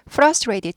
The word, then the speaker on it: frustrated: 데미지가 크다고 합니다 그래서 frustrated 좌절한 절망한이에요 frustrated frustrated frustrated인데 약화 돼서 frustrated frustrated frustrated 그래서 이트는 발음 되지만 요거는 red로 약화 되죠 그래서 frustrated 잘 굴러가요